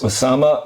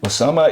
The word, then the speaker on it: Usama: who fought the Crusaders, Usama ibn Munqidh. Okay, we've got to spell that out for us. Usama, like Osama. Ibn, I-B-N. I-B-N. M-U-N-Q-I-D-H. M-U-N. Q-I-D-H. Q-I-D-H. How do I pronounce that again? Usama ibn Munqidh.